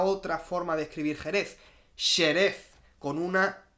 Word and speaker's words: Xerez: ¿Cómo se escribe Jerez? ¿Cuál es la otra forma de escribir Jerez? Xerez, con una X, porque Xerez, o sea, nuestra